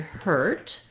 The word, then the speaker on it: hurt: look at the word hurt it's just one syllable and what's challenging most likely in this word is the vowel er the er sound it's got the tense